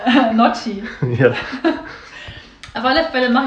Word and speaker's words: Gnocchi: Ganuschki. Ja, Gnocchi. Nee, wie spricht man das aus? Gnocchi.